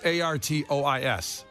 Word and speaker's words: Artois: That's how it's pronounced? It's Artois.